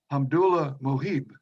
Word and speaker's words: Hamdullah Mohib: United States from Afghanistan, was, if I can pronounce his name correctly, Hamdullah Mohib.